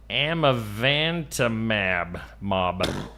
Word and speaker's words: amivantamab: The drug called amivantamab.